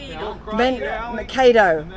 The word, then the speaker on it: Mankato: Pronounce this place's name. Is it Mankato? Mankato.